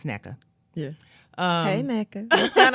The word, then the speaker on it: Nneka: The WNBA president, Miss Nneka Ogunwak, I can never say her name, but it's Nneka.